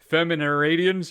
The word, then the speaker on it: Feminaridens: Also, on Etsy, Feminaridians, I can never say it, which is spelled FEMINARIDENS.